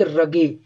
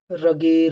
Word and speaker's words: rugae: में भी रहता है and called as gastric रगे, रगे रुगे, RUGAE, जो भी तुमको प्रोनाउंस करना है कर सकते हो।